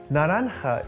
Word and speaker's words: naranja: Naranja is spelt with a J, but is pronounced naranja because that's how J is pronounced in Spanish.